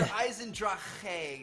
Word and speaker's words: Eisendrache: It's Der Eisendrache. It's got like a little bit of a kh in it, but not really a lot.